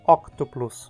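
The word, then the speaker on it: Octuplus: sílaba e tu não terminei consoante e a pronúncia octoplus o o chama sequência como PS onde a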